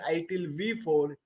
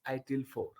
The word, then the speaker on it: ITIL 4: the new avar and it is not pronounced as ITIL V4. It is pronounced as ITIL 4.